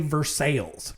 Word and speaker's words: Versailles: Like there's a Versailles in Ohio, but they say Versales cuz it's Ohio.